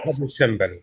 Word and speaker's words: Abu Simbel: Abu Simbel.